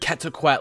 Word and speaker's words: Quetzalcoatlus: Then going up these flimsy stairs, we've got the nesting grounds of the most feared Quetzalcoatlus with a silent consonant in his name.